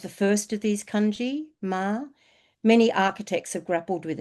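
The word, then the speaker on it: 間: It is tricky one for me though since it's pronounced ma and my partner's name is also ma and for him it means horse but he is Chinese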